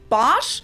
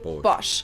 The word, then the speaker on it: Bosch: brand wrong per se americans usually say bosch while germans say bosh so the vowel is